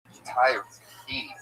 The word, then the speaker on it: Tyrhee: A silent H in it. The H, you don't even pronounce it. Right. Tyree.